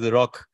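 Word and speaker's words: 六: Six is, in Japan, six is pronounced lock.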